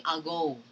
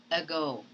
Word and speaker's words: ago: you read this word you do not say algo but you have to simply say ago read it for yourself